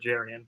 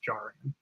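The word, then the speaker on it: Jarrian: rookie cornerback jaran Jones he he pronounces it Jaren but it is jaran um here we go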